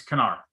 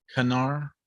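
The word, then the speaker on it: Knarr: it's Canar. Kanar? Oh, it's a hard K.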